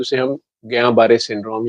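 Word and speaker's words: Guillain-Barré: को, बड़े को हो जाए, तो उसे हम गयां बारे सिंड्रोम या जीबी सिंड्रोम बोलते हैं। नाम उसका मुश्किल सा है, स्पेलिंग जी, उसके इससे भी मुश्किल है, GULL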